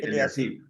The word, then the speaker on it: Eliasib: ¿Eliasí es que se pronuncia? Sí, Eliasí.